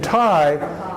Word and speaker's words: Thai: way out saw in Thai in tight you don't give the H is silent you don't pronounce the H when when you know